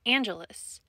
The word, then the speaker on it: Angelus: the correct pronunciation is Angelus it is a Roman Catholic term for a type of prayer learn something new every